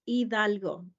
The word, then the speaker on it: Hidalgo: You don't pronounce the H. It's Hidalgo.